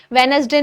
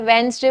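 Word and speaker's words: Wednesday: उसके बाद हमने कुछ प्रोनाउंसिएशन सीखी थी, जैसे कि हफ्ते के दिनों के नाम के बारे में, मंडे, ट्यूसडे, वेनसडे नहीं बोलना है, वेंसडे बोलना है।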